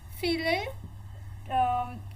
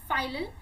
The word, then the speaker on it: filial: So F1 means filial generation, first generation. Filial we can say, or some people say it as filial. It depends on you what is the pronunciation, but this is first generation.